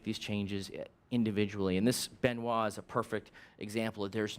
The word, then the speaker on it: Benoit: Benit is pronounced Benoit, right?